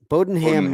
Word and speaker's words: Bodenham: on mute and quick listen to pronunciation get it's it's bodenham bowdenham m so so I